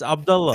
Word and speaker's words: Abdullah: And you telling me how to pronounce that name? That was his name. What can I don't give a damn. It's Abdullah.